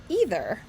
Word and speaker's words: either: Even so, this story didn't feel quite right either. Or either. You can pronounce that word either or either way.